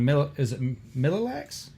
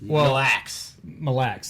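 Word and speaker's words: Mille Lacs: In the tournament over on Millilax? Okay, you know what? Sure, if you want to pronounce it that way.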